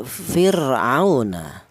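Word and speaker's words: فِرْعَوْنَ: Kemudian di sini ada fir'auna. Ada fir di mana ra mati ini, didahului huruf yang berharokat kasroh, ini dibaca tarkik ya. Cara bacanya tipis fir ya.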